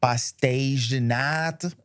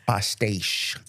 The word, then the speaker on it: Pastéis de nata: Pastéis de nata. I didn't say it like a Portuguese. I said it like a Brazilian. Yeah. Pastéis.